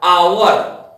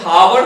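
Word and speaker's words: hour: अब थोड़ा सा आगे चलते हैं, जैसे एच ओ यू आर, आवर, एच ओ यू आर एच से शुरू हो रहा है, लेकिन हावर नहीं हो रहा है, आवर हो रहा है।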